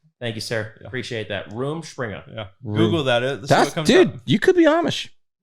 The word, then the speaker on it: Rumspringa: Is it room or rum? How they say it is Rumspringa.